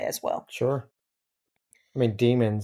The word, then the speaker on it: Diemen: According to Google, it is Demon.